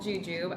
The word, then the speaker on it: jujube: All right, we want to thank WZY for sending out these jujube red dates. Yes, that is called jujube.